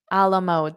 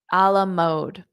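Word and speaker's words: à la mode: see the word alamode Alam mode this is not English this is French Alam mode which does not mean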